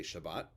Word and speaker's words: shabbat: pronounce the way yiddish speakers pronounce them so shalom becomes sholem shabbat becomes shabbos by